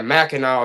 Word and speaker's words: Mackinac: Yeah, Mackinac is how you say it.